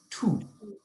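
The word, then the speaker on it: tous: followed so for example the second word that we see is t-o-u-s which would be pronounced tu but if it had an e on the end it would be tuzu okay so this um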